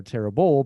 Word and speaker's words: terrible: the the stressed syllable notice that each of these in each of these words the stressed syllable is the first syllable awful and not horrible or horrible but horrible and not terrible or terrible but terrible so all